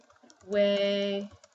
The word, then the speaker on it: jueves: J also often sounds like an, J sounds like an H. So for example, you have the word Thursday, which is written like this, jueves. You pronounce it jueves.